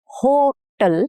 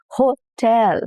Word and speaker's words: hotel: So, instead of saying hotel, now here you're laying the stress on ho instead of tell, the second half of the word hotel.